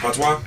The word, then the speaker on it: Patois: What's it pronounced? Patois.